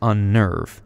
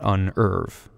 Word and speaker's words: unnerve: progress muffin sudden but if a doubling results from adding certain prefixes such as in unnerve we keep the double lens because they reflect the compound nature of the word it's pronounced unnerve not unve the Y is a